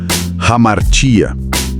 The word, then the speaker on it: hamartia: A palavra grega original para pecaram é amartia. A pronúncia é algo como hamartia. Hamartia. Isso.